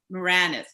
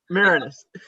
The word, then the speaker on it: Marinus: His name is Andrew Moranis, right? I said it right. Marinus.